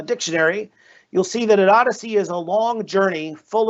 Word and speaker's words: OHDSI: about the fact that ohdsi when pronounced may not pronounce odyssey but i feel like